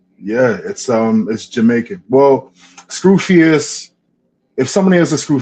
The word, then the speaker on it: Skufius: By So Skufius would be pronounced by you how? Skufius.